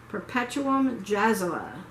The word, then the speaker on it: Perpetuum Jazzile: Perpetuum Jazzala. It's spelled like Perpetuum Jazzile.